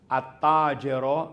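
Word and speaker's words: التاجر: samsia ayan siya oh attaero merchant walang sound walang sound ang l pero automatic sadda yung unang letter nung salita dress roaster gold man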